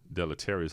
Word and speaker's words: deleterious: Deleterious. Spell it. DELETRIOUS. Deleterious. Deleterious, like delete. Spelled like delete.